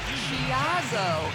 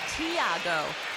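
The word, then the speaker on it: Tiago: name but he says the pronunciation of his first name is closer to Chiago not Thiago and he added with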